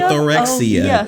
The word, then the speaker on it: orthorexia: I mean, and I understand that you dealt with orthox or or how do you pronounce it? Orthorexia. Orthorexia.